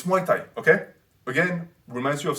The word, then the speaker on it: Muay Thai: it is to say muay thai it's not mutai it's not mai tai which is what neru says for some reason he says mei tai it's muay thai okay again reminds you